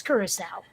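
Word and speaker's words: Curaçao: the names of all the really hard to pronounce drinks and yes it's curacao that stuff is so sweet it's like drinking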